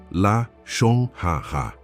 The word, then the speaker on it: Lashon Hara: Escute a pronúncia. Lashon Hara.